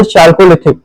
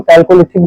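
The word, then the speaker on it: Chalcolithic: फिर चाल्कोलिथिक, चाल्कोलिथिक को हम कैल्कोलिथिक भी कहीं कहीं पढ़ने को आ जाता है, कहीं कहीं चाल्कोलिथिक अपना अपना प्रोनाउंसिएशन है, जैसे एड्रेस और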